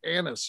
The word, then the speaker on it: anise: is star anise but we always say star nice because it sounds better and this is terrible